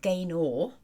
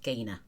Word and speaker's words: Gaynor: write my name constantly Gaynor? It's spelt Gaynor, but it's pronounced Gaynor. I know a lot of people, American ladies, Gaynor. I think it's cute, but it's Gaynor, just Gaynor.